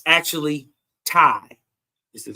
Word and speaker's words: Tae: So it's actually Thai. So before she taught me how to say the word properly, I thought it was Te.